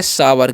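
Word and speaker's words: sour: इसे हम लोग पढ़ेंगे सावर क्या पढ़ते हैं जी सावर पढ़ते हैं क्योंकि ओ यू का जो उच्चारण है यहां पर आव होता है ठीक है तो इसको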